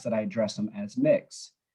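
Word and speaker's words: Mx: i address them as mix it's pronounced as mix mix for those not familiar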